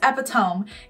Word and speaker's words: epitome: And she's like, no, I'm pretty sure it's epitome.